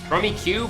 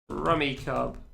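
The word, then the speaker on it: Rummikub: Rummy Cub. Rummy Cube. Ah, all right then. Never heard it pronounced that way before. Google, what do you say? English. Ramy cub. Huh? Google says you're wrong.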